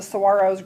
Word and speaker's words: saguaro: When I lived in Arizona, I lived where the saguaros grow. I lived near Saguaro National Monument, which is now Saguaro National Park. It's pronounced saguaro.